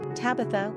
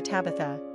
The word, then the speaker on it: Tabitha: Tabby is an oft-used nickname for Tabitha. Quick facts on Tabitha. Gender, girl. Origin, English. Number of syllables, 3. Ranking popularity, 759. Pronunciation, TA by TH.